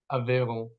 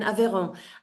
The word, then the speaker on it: Aveyron: Aveyron. You're in Aveyron.